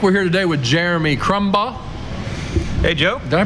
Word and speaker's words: Crumbaugh: to moonshining music we're here today with Jeremy crumble hey Joe did I pronounce that right you got it right Jeremy